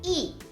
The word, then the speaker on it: y: sound is at the end so we say e o or the letter J by itself very